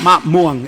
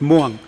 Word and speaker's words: muang: There's no ma. It's not ma muang. It's just muang.